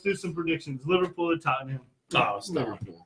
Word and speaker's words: Tottenham: The H is silent. It's Tottenham.